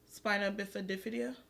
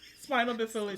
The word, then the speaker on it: spina bifida: I was watching this little boy on TikTok, and he was born with spina bifida. What's it called? Spinal bifida. So say it again. Spina bifida.